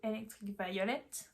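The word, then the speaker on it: Electric Violet: Enfin, écrit comme ça doit être prononcé à l'anglaise, donc plutôt électrique violet.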